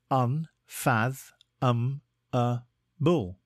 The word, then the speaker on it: unfathomable: a time today's word is unfathomable it is pronounced un fath um Bull and is spelled u n f a t